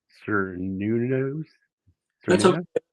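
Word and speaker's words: Cernunnos: Cernunos? That's okay. Cernuna? It's one way to pronounce it. Some use the hard C, some use the, Okay. but Carnunos is what I usually use.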